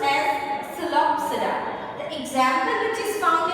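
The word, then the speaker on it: Psilopsida: The P over here is silent, right? So it is pronounced as Celopsida.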